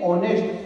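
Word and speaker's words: honest: का होनर होता है बोला नेस्ट नहीं ऑनेस्ट नर नहीं ऑनर इसमें एस साइलेंट आता है अब हम दोनों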